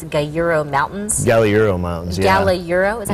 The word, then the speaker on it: Galliuro: Galliuro, is that how you say it?